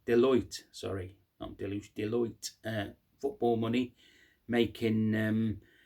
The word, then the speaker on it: Deloitte: in today's market well um according to um Deluge uh or Deluge however you pronounced Deloitte sorry Deloitte uh football money making um uh part of